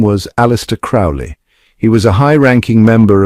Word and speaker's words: Crowley: Some say Crowley, others Crowley. I insist it is pronounced Crowley to rhyme with holy.